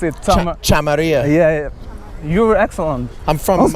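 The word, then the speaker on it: Chameria: Can you pronounce it? Chamaria.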